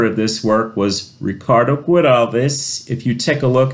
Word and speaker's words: Güiraldes: And the last name Güiraldes, over the U it has a double dot, kind of like what they say, the German umlaut, to let us know that it's pronounced Güiraldes instead of Güiraldes.